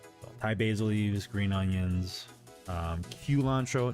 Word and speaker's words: culantro: So, Thai basil leaves, green onions, culantro, not cilantro. Culantro is spelled with C-U-L-A-N-T-R-O.